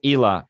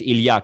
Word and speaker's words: Ilya: Again, it's Ila. Well, it's Ilya. That's the correct way to pronounce it.